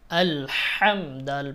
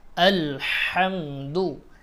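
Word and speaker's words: الحمد: হাম দাল পেশ দু, আল হামদু, আল হামদু, আল হামদু। এখানে আমাদের কমন যে ভুল সেটা হচ্ছে আমরা হার উচ্চারণটাকে হা পড়ি, আলহামদু পড়ি। আলহামদু পড়া যাবে না, আলহামদু পড়তে হবে।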